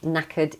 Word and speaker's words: knackered: Knackered is exhausted. Notice the pronunciation of this word. The K at the beginning is silent. So we start with the N.